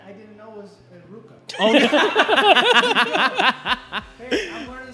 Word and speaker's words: RVCA: Like, remember, there was a brand that was called, I'll just spell it out, it was RVCA, right? Yeah. Ruka. I remember finding out it was called Ruka.